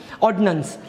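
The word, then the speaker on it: ordinance: आता हे उच्चार करताना असं लय लावायचं नसतं, ऑर्डिनन्स. इट जस्ट ऑर्डिनन्स आणि तो पण ऑर्डिनन्सच आहे. मग आता दोघांमध्ये फरक काय स्पेलिंगमध्ये? एकामध्ये आय आहे तो ऑर्डिनन्स, पण त्याचा आय एवढा लांबवायचा नसतो, ऑर्डिनन्स.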